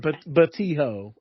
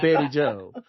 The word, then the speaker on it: Betty Joe: Like you called that woman Batijo, and clearly that was Betty Joe.